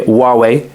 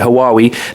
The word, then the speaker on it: Huawei: yeah Huawei came out that's how you say it by the way Huawei H UA we I I heard loads of people call it haawi they got uh the